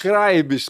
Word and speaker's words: Kreibich: Dr. Kraibs. Kraibs, pronunciar certinho, viu?